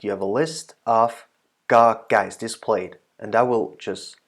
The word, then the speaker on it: ก ไก่: Right, I think you are already a little bit familiar with how the tones work and how you actually utter the sound and pronounce the letter ga gai.